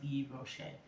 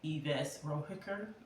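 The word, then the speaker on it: Yves Rocher: I want to order some stuff from Eve Rocher, or as my daughter. This is an inside joke between my daughter. I know it's pronounced Eve Rocher, but Yves Rohicker.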